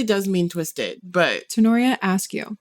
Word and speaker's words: Askew: Tanorria Askew. Just like ask you a question.